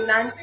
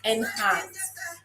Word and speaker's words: Enhance: Do we have any Nance fans in the building? And it's actually not Nance, it's Enhance.